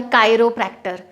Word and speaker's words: chiropractor: या फिर जैसे एक डॉक्टर स्पेशलिस्ट होता है कायरोप्रैक्टर, CHIROPRACTOR, कायरोप्रैक्टर भी देखिए क से आया, जॉइंट्स से रिलेटेड थोड़ी बहुत मालिश वगैरह जो करते हैं, मसाज वगैरह।